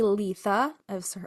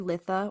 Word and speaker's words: Litha: summer for them so some say Letha I've also heard litha or litha Lia yeah uh with the emphasis on the first syllable the word litha is